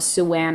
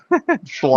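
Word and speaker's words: Siuan: When she was trying to shove Suanne out, but Swan. Swan. Yeah. I I noticed it sounds kind of like Swan. Yeah. It's not Suan. Swan.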